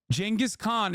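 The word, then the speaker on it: Genghis Khan: regime does not exist Jenis Khan is how you say it you idiots shut up making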